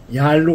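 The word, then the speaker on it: Yalu: 우리 지도에서 암노 이은 왜 얄루 그러느냐 얄루 중국입니다 그 압록강을 중국 발음으로 한 거죠 근데 그분이 세상을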